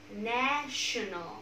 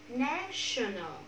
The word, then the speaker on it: national: National. One more time. National.